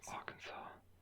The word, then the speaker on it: Arkansas: Above Louisiana's Arkansas, which nothing about the spelling that it's pronounced Arkansas, especially because Kansas is right here, but it's not pronounced Arkansas, which doesn't make sense.